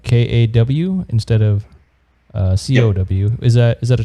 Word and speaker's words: kaw: k-a-w um okay so the kaw it's pronounced cow and it's um actually a malaysian word for extra you know so an